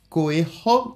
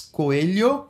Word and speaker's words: Coelho: His name is Lucas Coelho. Many people in the USA pronounce Coelho. It's not Coelho, it's Coelho.